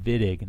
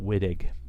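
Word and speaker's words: Wittig: same thing okay the viig reaction this is pronounced viig not Whig um so W's with a V uh vid won a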